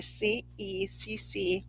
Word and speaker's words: Ceccoli: It's pronounced Chicoly. Ceccoli tarot.